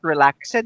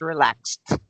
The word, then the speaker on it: relaxed: to fill the lesson it's not relaxing it's relaxed it's the T sound at the end not relaxing relaxed relaxed okay yes okay very